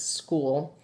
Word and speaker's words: school: ound and equals s it sounds like SK instead of s it's not true it's school but that's let's let's